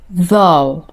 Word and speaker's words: though: Though. Thanks though. Honestly though, weirdly though, UGH is silent. Laguma dhawaaqo. Though.